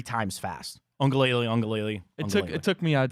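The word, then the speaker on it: Uiagalelei: Your wonderful pronunciation of DJ. How do you say it? Ongalele. Ongalele.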